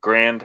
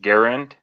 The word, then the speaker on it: Garand: of an M1 uh Grand I know I'm not pronouncing it right without what's the right pronunciation it's fine you get your groceries at Walmart Garand Garand it's a M1 Garand uh